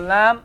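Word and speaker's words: لا: Lam alif, okay? That's all lam alif. What sound does it give? What sound does it give? La. What does it sound like? Pronounce it. La. Stretch it. La.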